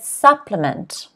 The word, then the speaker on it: supplement: next word supplement supplement stress again is on the first syllable supplement it's a type of pill that contains vitamins nutrients etc for example the doctor told his patient to take a vitamin supplement every day supplement say it at home supplement so notice it's not supplement it's supplement a supplement okay next